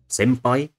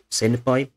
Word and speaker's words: senpai: So senpai, not senpai, is again really a process of assimilation. It's is simply articulated more similarly to P than N is. So in order to make it easier to pronounce, it moves into a slightly different position.